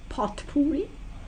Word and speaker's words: potpourri: be a sort of potpourri you know what that is like pot hooey it's spelt P OT p or you are a but really means